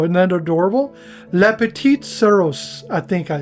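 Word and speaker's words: souris: Le petit soros. I think I said said it right. I don't know. Seros. I think it's soros.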